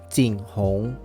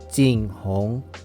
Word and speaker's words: JingHong: And the name of the IEM is called JingHong. JingHong.